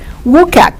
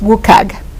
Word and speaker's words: WCAG: WCAG, WCAG, it stands for the World Wide Web Consortium Web Content Accessibility Guidelines, and it's usually pronounced by a lot of people as WCAG.